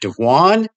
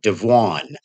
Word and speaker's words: Devuan: taking a look at dejuan linux hopefully i didn't butcher the name it's d-e-v-u-a-n so i'm going to call it devon it is a fork